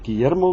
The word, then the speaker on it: Guillermo: So here we get Guillermo Guevara toca la guitarra. And the U just stays silent because all its purpose is there is to make the G hard. It doesn't pronounce.